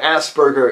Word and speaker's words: Asperger: I don't know but Asperger is much closer to the actual German pronunciation since dr. Hans Asperger who it's named after was from Austria but what does this